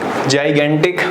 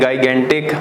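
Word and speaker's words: gigantic: एक जाइगेंटिक दिया हुआ है ना, इसे जाइगेंटिक प्रोनाउंस करते हैं, गाइगेंटिक मत बोल देना, जाइगेंटिक कहा जाता है इसको।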